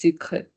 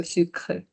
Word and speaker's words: sucre: But if it is just E, then you don't have to pronounce it that way. It's just sucre. Okay, so sucre.